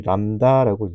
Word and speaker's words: 람다: 있는요 괄호 안에 있는 기호는 우리 람다라고 람다라고 읽어요 저 파장 중요한 개념입니다